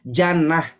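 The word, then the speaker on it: جنة: bukan pakai uh pakai jadi bacanya Jannah pernah dengar Bapak Ibu kalimat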